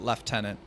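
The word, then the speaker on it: lieutenant: Oh they do pronounce it left tenant. I mean, English English is odd that that's how that's pronounced, right?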